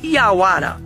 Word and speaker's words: iauara: e por aí vai o jaguar é uma palavra de origem tupi-guarani e é pronunciado como iauara e pode ser traduzida